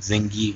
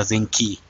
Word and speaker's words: زنجي: وهي اسمها نسبة إلى محمود زنجي وليس زنكي، هي جي.